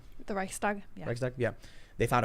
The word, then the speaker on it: Reichstag: No, Nazi Germany, the burning of the how do you pronounce it? Reichstag. The Reichstag.